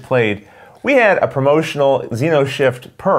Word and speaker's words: Xenoshyft: Xenoshyft. Xenoshyft. Oh. The X is silent, even though it's there.